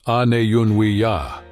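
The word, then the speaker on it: Aniyunwiya: people today called Cherokee refer to themselves as anunia, pronounced an yuni ya.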